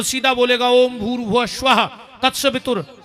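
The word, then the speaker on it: भूर्भुवः स्वः: के बताओ अपन बोला भूस्वाद इसमें एक शब्द कम पड़ रहा गायत्री का सही उच्चारण है ओम भूर भुव स्वाहा ओम पर ओम कोई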